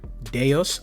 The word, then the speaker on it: DEUS: Now, if you guys don't know, I've been talking about Deios. I I finally found out that's how you pronounce it, the ticker.